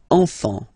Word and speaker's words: enfant: Don't pronounce the T, you don't pronounce the S.